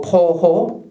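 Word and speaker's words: 暴虎: 그 다음에 요거 포호, 빙하. 요 포호라는 건 요 폭이라고 읽으면 안 됩니다. 폭력할 때 이제 폭자로 읽고요. 이때는 포자라고 읽어야 됩니다.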